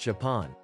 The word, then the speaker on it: XPeng: The company calls it XPeng, pronounced Japan.